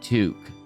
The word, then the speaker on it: toque: And I'm like, pretty sure you're trying to say toque. Like a fur toque. And ermine toque. Like, no, I'm pretty sure you're saying a toque.